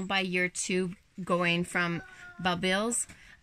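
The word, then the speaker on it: bulbils: It's spelled B-U-B-I-L-S. Kind of like pupils.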